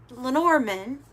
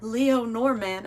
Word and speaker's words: Lenormand: The tower is in the Lenormand, or Leonormand. I've heard people pronounce it different ways, but I'm Southern, so I'm going to pronounce it the way I pronounce it.